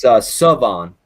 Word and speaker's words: Salvon: It's Salvon. Oh, the L is silent, and then we add a sound that's not in the last name too.